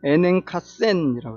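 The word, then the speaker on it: ἠνάγκασεν: 이 말 조금 더 우리가 해보면은 헬라어로 보면 에넨카센이라고 해요. 뒤에 발음이 굉장히 세죠.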